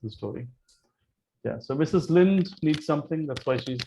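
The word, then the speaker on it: Linde: offers some confidence oh oh it's me it's pronounced as mrs lind not lindy yeah it's lin it's not a maharashtrian it's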